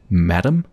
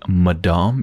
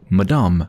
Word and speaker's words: Madame: return to Madame Lumiere so before I actually pronounced that Mme as Madame but that's not quite right as somebody corrected me it's actually Madame it's the French version of Madame only difference